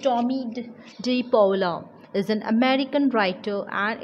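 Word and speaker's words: Tomie dePaola: So this lesson is written by Thomas Anthony Tommy De Paula, pronounced Tommy De Paula, is an American writer and illustrator.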